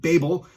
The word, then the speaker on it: Babel: Technically, it is supposed to be pronounced Babel. However, as a child, I grew up learning the story Tower of Babel, and I just cannot train myself to say it that way.